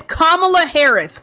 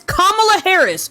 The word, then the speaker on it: Kamala Harris: It is Kamala Harris. You are able to say it. You can say it. If you speak English, you can say comma.